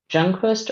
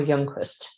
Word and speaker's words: Youngquist: pronounce your last name do you pronounce it jungquist or youngquist it's Young um I do have a